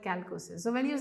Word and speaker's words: chalcosis: So when you say chalcosis, some people pronounce it that. It's okay to pronounce whatever. I call it calcosis.